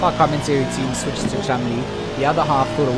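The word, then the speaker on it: Cholmondeley: You remember the name Chumley? Oh yeah, let's not get that now. Cholman. Yeah, so the name is spelled Cholm. It's spelled out phonetically Cholmondili. That's how you would read it phonetically.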